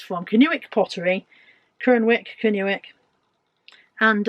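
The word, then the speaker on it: Kernewek: this is a cornish how do you pronounce kern canuik i'll put on the on the screen k-e-r-n-e-w-e-k if you're cornish is it kernweck or canuic or or something else anyway that's where it's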